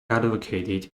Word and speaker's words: advocate: of abortion the protesters in the United States advocated the legality of proportion all right next we